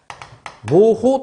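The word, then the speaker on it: mho: 이걸 뭐라 했냐면 모우라고 했습니다. 모우. 모호 또는 모우라고 읽어요. 모우 또는 모우. 모호 뭐 이렇게 읽어요. 적당히 읽으면 돼요.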